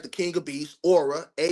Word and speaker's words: Aurah: Just like the king of beasts, aura. A U R A H. Like you have a aura around your body.